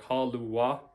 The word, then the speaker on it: halua: Halua, it is two vowels, but they kind of make separate sounds like halua. They're different syllables, halua.